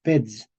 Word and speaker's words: pez: Entonces, en español medieval se escribía P-E-Z, pero se pronunciaba peds. ¿Ok? Y en español moderno también escribimos pez con Z, ¿verdad? Pero en español moderno decimos pez.